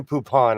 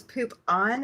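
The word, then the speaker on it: Poupon: Okay, we need to work on your pronunciation because that was poop on instead of poopon.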